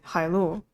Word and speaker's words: 海路: I can actually figure out exactly what the pronunciation is. Qian Hai. Then what? Lu. 千海路 Yes. Okay. Hai Lu.